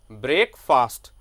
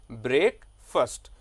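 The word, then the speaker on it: breakfast: एफ के बाद after F जो ए लेटर है that is silent in speaking, तो आपको बोलना है ब्रेकफास्ट। क्या बोलेंगे? ब्रेकफास्ट।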